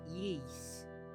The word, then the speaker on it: Ys: So, uh, I believe it's called you pronounce it ye like yeast, but yeast.